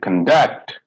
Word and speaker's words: conduct: right i'm going backwards when i say conduct conduct that is verb okay go ahead conflict